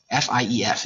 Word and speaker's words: fief: F-I-E-F is pronounced fief.